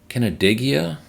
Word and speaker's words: Canandaigua: Canandaigua, I believe is how it's pronounced, New York, 4 stalls.